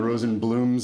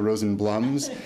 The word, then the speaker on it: Rosenblum: uh Roberts for having recognized the Dual pronunciations because there is still some debate in the family as to where we fit between the Rosen blooms and the Rosen blums and you're really entitled